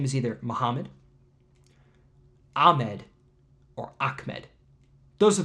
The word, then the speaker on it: Muhammad: It might be a single or a double m, but it's pronounced the same way. It's Muhammad.